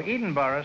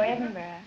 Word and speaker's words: Edinburgh: say how old are you EV well I pronounce good evening where are you from Evelyn Evenston Illinois no Edinburgh Scotland oh Edinboro Scotland no Edinburgh oh Edinburgh well then I'll call you Evelyn